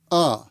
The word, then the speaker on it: of: of in that phrase that's because we usually pronounce of as uh the word of has